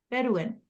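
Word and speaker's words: Bedouin: the Levant and Mesopotamia so it's pronounced this is amazing bedin okay I wasn't too far off bedin did we get that right yes that's right so they were a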